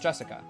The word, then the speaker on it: Jessica: You see, Jessica is pronounced Jessica.